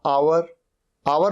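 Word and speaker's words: hour: आ रहा है एच यह है आवर यहां पर एच साइलेंट होता है आवर आवर मतलब घंटा ऑनेस्ट ओ से शुरू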